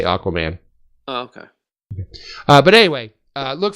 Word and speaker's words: Aquaman: Or is it pronounced Aguaman? Like Agua. Aguaman. No, that's... No, this is America. We say Aquaman.